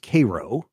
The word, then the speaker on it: Cairo: You notice right there where these two rivers are joining is a city called, it looks like it's spelled Cairo. It's pronounced Cairo.